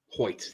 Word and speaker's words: Hoecht: NO3 million okay now this one says is pronounced ho Michael hoit ho hoit that does sound right